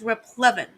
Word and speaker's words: replevin: it's pronounced rep Levin replevin a procedure whereby sees